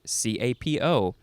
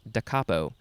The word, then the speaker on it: da capo: first word and then c-a-p-o it's not capo like i thought it would be decapo adverb or adjective from